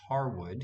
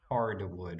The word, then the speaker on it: Harwood: to the voice actor mispronounced Harwood he's going to say hardwood with an extra D in the middle okay so I hope